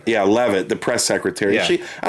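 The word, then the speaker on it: Leavitt: Levitt, is that how you say her name? Yeah, Levitt, the press secretary.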